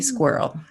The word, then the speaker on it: squirrel: So if you can say girl, you can say squirrel.